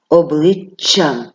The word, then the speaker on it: обличчям: будемо передавати двома буквами наступне слово обличчям Ми пам'ятаємо що звук ч в українській мові завжди твердий навіть коли після нього стоїть Я обличчям ви відчули що я вимовила подовжено і твердий приголосний звук і на письмі він ми його передали двома однаковими буквами Тож сьогодні мої хороші